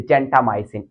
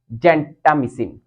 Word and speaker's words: gentamicin: or you can say gentamicin, it's all up to you because British says gentamicin, but the American says gentamicin.